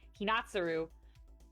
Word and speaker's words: Hinatsuru: so sweet because they actually, I think it was technically Hina or Hinatsura or Hinatsuru. Why am I saying her name wrong? Hinatsuru.